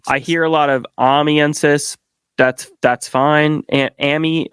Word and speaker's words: Amiensus: The way that I've always said it is Amiensus. Okay. So I hear a lot of Amiensus.